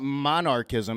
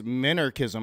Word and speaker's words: minarchism: It's not monarchism. It's minarchism, unless he's just mispronouncing monarchism.